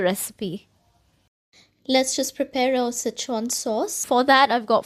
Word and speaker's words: Sichuan: The correct Chinese pronunciation is Szechwan.